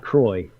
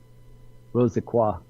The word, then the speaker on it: Rose Croix: It's not Croix. I can tell you that. Crah. But it's actually Rose Croix. Rosaqua, I think is the right way to say it.